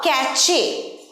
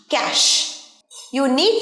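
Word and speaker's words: cache: বলবো ক্যাশ ক্যাশে অনেকেই উচ্চারণ করে ক্যাশে বা ক্যাচে দুটোই ভুল উচ্চারণ ক্যাচেও নয় ক্যাশেও নয় ক্যাশ ক্যাশ ইউ নিড to clean ক্যাশ from your mobile coed often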